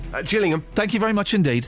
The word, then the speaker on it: Gillingham: beating Gillingham get jilling is it a soft G or a hard G just Gillingham thank you very much